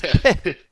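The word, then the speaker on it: Pah: It's peh. It's pronounced almost like you're spitting on the person you're talking to.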